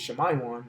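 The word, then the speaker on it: שמעון: From the man Simeon, and how you pronounce it in the Hebrew is Shemayon, which means affliction heard.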